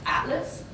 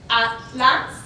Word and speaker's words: atlas: Interestingly, we have the TL consonant cluster in the same syllable, where Spanish typically separates these two. If we look at the example, atlas, atlas, is how it's typically, but in Mexican Spanish,